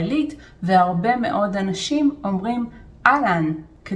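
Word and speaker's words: אהלן: It is "Ahlan". zeh lo "a-ha-lan". zeh "ah-lan". The H is silent.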